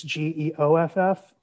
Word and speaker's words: Geoff: Geoff is spelled funny. It's Geoff, and.